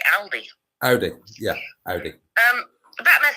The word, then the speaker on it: Audi: I think, is it Audi? Is that how to pronounce it? Because like I'm saying, Aldi. Audi, yeah, Audi.